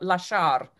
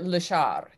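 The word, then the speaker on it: lasciar: a hard word but la shar is actually a hard word because the accent is on the second syllable and people who maybe don't have a lot of facility in italian or not italian tend to say leshar instead of la char so i want you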